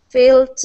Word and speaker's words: felt: Okay, instead of feel, it is a short E sound.